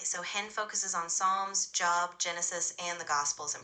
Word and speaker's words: Job: In this context it's pronounced job like the biblical figure with a long o sound.